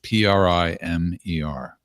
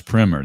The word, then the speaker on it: primer: And uh the answer to the important question is how to pronounce P R I M er. The first primer. Look at that. No, the first one is primmer. The second one is prime.